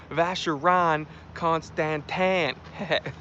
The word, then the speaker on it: Vacheron Constantin: Armando says, no, it's pronounced Vacheron Constantin.